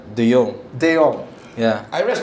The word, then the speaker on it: De Jong: I said it before a long time ago, in Dutch language, a J is silent. And that should be easy for everyone because we're Filipinos and we pronounce the J's with, the H's anyways, right? So it's De Jong.